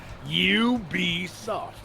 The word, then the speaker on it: Ubisoft: Yeah, he was talking about the French pronunciation. Right on. Go Swift Sharky. Oh no, Is it I- Weebisoft? Because they're French, so it's... No, we just looked it up. You be soft.